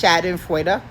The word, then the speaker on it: Schadenfreude: It's Schadenfreude.